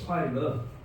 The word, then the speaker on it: 快乐: 안식일 쾌락인데 이제 중국말로 발음은 조금 그렇습니다. 한국말로는 쾌락. 네. 쾌락이 뭐냐면 快乐.